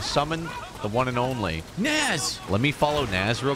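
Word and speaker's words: Nas: That's pronounced Naz Pops? No, this one's Naz.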